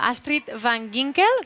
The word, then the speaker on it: Astrid van Ginkel: Ara estic amb la Astrid van Ginkel, pronuncio bé?